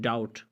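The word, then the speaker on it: doubt: या आप कहते हैं डाउट, शक को कहते हैं, डाउट में भी आप देख लें कि टी से पहले भी आया है और यहाँ पे भी बी खामोश है।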